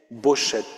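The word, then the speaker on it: בֹּשֶׁת: chose n'était pas acceptable, ils ont vocalisé O-E, Bochet.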